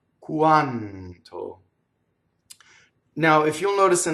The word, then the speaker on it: quanto: Notice that N, when it touches a consonant, it follows the same rule as R. It doubles and it stays in phonation, you see? So the N leading up to the T, quanto.